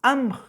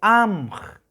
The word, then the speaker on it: amj: Entonces no es amj, sino se pronuncia amj. Entonces se prolonga un poco esta palabra, esta letra, el sonido de esta letra A, que significa, amj significa